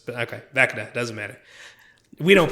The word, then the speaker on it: Vecna: Isn't it Vecna? Vecna. Why did I think it was Veshna? I know it's... Okay, Vecna.